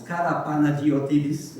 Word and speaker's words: Karapanagiotidis: be said about Kon Karapanagiotidis. Wonderful name. I once won a trivia contest by spelling that name properly. It's not that difficult, it's all in the syllables, Karapanagiotidis, right?